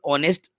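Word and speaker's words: honest: लो सबसे पहले तो इसका साउंड चेक कर लो ऑनेस्ट जो कि हमें वाउल साउंड दे रहा है एच साइलेंट है इसमें जो बच्चों एच है स्टार्टिंग में लिखा जरूर मिल रहा है लेकिन एच को रीड नहीं करना है एच को छोड़ के पढ़ना है तो वाउल साउंड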